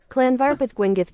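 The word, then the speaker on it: Llanfairpwllgwyngyll: The W's are pronounced just like normal U's.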